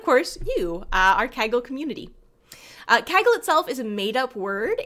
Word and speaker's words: Kaggle: And it rhymes with gaggle, which is the English word for a group of geese.